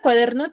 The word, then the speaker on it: cuaderno: Luis Luis a ver la palabra cuaderno termina en una vocal Por ende tiene la mayor fuerza de voz en la penúltima sílaba que es Der Por ende yo no